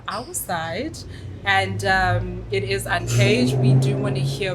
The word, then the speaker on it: Uncvge: people would ask me, what is the name? And you're like, Uncvge. And they're like, Uncaged. Like with the E-D. With a D. No.